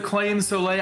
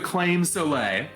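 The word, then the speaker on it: Claimh Solais: here this is the claim so late I know that's not how it's pronounced but it's how it's pronounced within the Castlevania Community it's the claim Soleil this is a holy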